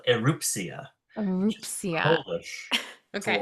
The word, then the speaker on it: Erupcja: No, it's called Erupcja, which is Erupcja.